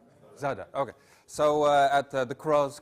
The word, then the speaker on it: Zadar: How do I pronounce it correctly? Zadar.